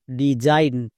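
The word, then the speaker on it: design: ডি ই ডি এস আই জি এন জাইন ডি জাইন এখানেও কিন্তু এস এর জন্য বর্গীয় যোগ হয়েছে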